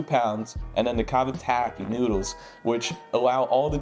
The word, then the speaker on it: cavatappi: How do you actually say cavatappi?